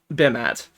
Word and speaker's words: Bimat: A space, followed by Bimat. So it Right. is pronounced Bimat. You have to pause first before saying its name.